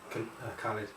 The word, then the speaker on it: Khalid: Is it pronounced KHALID or KHALID? KHALID.